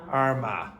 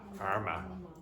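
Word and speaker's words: Armagh: because it's an adjective and how do you pronounce that word again Arma Arma a 29-year-old County Arma man has been sentenced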